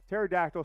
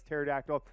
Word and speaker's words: pterodactyl: go to the bathroom it's because the p is silent what do you mean the p is silent well pterodactyl starts with a PT you think it says pterodactyl uh nevertheless a bunch